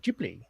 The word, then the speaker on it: Ghibli: I was saying, you mentioning Studio Ghibli earlier in the show was very prophetic, because